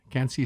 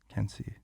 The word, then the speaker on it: Quincy: Cancy is spelled like Quincy. Can't see.